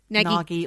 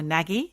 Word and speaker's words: Nagy: Nagi who went missing I don't know if that's how you pronounce his names n a g y naggi or naggie naggie naggie naggi so